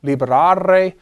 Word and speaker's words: libera: You form the present imperative singular by dropping the re off the infinitive and lengthening that vowel. So this would be pronounced sed libera nos a malo.